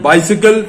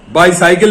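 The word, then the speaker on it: bicycle: उसके बाद है बाइसिकल, ट्राइसिकल। बाईसाइकिल नहीं होगा, ट्राईसाइकिल नहीं होगा। ये मत सोचिए कि CYCLE साइकिल होता है।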